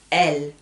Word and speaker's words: elle: C'est très différent le il et le L. En fait, L, c'est comme dans l'alphabet, la lettre L. C'est exactement pareil, ça se prononce de la même manière.